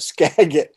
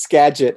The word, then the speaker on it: Skagit: Okay, and first I have to correct my pronunciation of Skagit. It's Skagit.